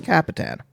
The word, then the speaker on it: Kapetan: Nico how do you say your last name capan capan did I say it right yeah cuz there